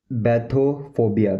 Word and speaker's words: bathophobia: इसको बोलते हैं बैथोफोबिया बैथोफोबिया बैथोफोबिया बैथोफोबिया बैथोफोबिया।